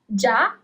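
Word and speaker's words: già: Ja, with an accent on the last letter, letter A, is already. Ja. If there wasn't that accent at the end of the word, you will read it as gia.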